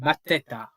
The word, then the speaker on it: Mateta: Mateta. Mateta. How am I acting like that is a hard name to pronounce?